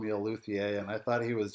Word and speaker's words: luthier: people insist on saying Lussier because they're fancy and I think that's the Italian Way of pronouncing it is it I had